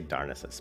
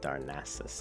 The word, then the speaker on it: Darnassus: a bad name Dionysius I always say darkness us but Darnassus I think is probably the correct way to pronounce it Darnassus darkness